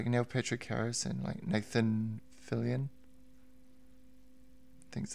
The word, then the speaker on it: Fillion: It's got Neil Patrick Harris and Nathan Fillion. I think that's how you say his name. Yeah. Yeah. It's just that's Nathan Fillion.